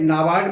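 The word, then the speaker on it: NABARD: नाबार्ड में देखिएगा, ये नाबार्ड में NA में A साइलेंट है।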